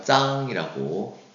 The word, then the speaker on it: 张: 자, 그래서 짱이라고 발음하고요.